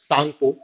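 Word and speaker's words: Tsangpo: It is known as Yarlung Zangbo, ठीक है, Yarlung Zangbo और Sangpo, ठीक है, Yarlung Sangpo, T is silent, इस नाम से जाना जाता है इसे, कहाँ?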